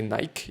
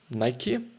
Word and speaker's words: Nike: The CEO, I think it was, I don't remember correctly, said that Nike or Nike, whatever, has to rhyme with spiky, which was an incredible